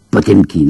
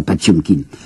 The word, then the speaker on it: Potemkin: Au mois de juillet, il y aura la révolte du cuirassé, la mutinerie, vous savez, du cuirassé, nous prononçons Potemkin, un cuirassé Potemkin, paraît-il qu'il faut prononcer ça, Patiomkin.